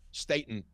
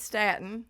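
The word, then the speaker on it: statin: And they're not all in the pocket of Statton manufacturers. It's Staten. learn to say it right.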